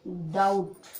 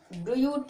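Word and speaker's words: doubt: क्या पढ़ोगे डाउट, ड्यूट नहीं पढ़ोगे, क्या पढ़ोगे इसको डाउट। और बी का उच्चारण भी नहीं करेंगे, इसको सिर्फ इतने सब पढ़ेंगे और टी को बोलेंगे, तो हो गया ये डाउट।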